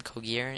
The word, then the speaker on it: Cauguiran: my name that's how pronounce my last name Karan it's spelled c a u guu i r a